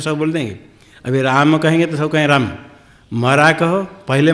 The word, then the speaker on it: राम: कोई तो राम कहेंगे, नहीं तो कोई रामा रामा रामा रामा, ये ना रामा नहीं राम, इसलिए मरा मरा कहा।